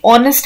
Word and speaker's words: honest: है वो H है, लेकिन साउंड आ रहा है O का, यानी ऑनेस्ट हम बोल रहे हैं, तो ऑनेस्ट में O का साउंड आ रहा है, यानी वोवेल का साउंड आ रहा है। H साइलेंट है, तो यहाँ पे हमने एन लगा दिया।